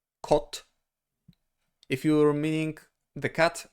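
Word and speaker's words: kod: In Polish, it's of course with the D at the end, but we always say the voiceless consonant at the end, so it will be pronounced like kot, kot, kot.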